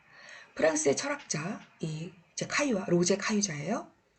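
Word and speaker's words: Caillois: 카유아. 네, 카유아라는 학자가 있어요. 프랑스 사람이죠. 카유아라고 읽으면 돼요.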